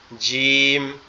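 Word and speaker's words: جيم: এটার নাম হচ্ছে জিম। জিম। জিম। এটার উচ্চারণটা কেমন হবে? আমাদের দুই দাঁত একসাথে লেগে থাকবে চেপে। আওয়াজটা একটু শক্ত আওয়াজ হবে। জিম জিম। জিম এরকমভাবে উচ্চারিত হবে।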